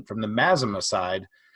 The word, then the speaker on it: Mazama: And I know you from LinkedIn specifically from video, specifically from the, and just correct me on pronunciation, from the Mazama side. Mazama.